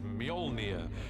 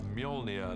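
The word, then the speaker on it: Mjölnir: is to work out how to pronounce it which is molnia uh in our movie at the mo until somebody corrects me I'm sure they will uh molia the hammer this awesome uh weapon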